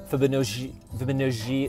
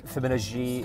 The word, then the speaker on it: Fibonojji: By the way, that's pronounced Fibonojji. It's a, okay, let's talk about, all right. I'm gonna make some jokes about San Fran, but it's very important you get my name right. It's Fibonojji.